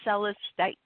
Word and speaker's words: celestite: So it's like celestial. Okay. So it's celestite.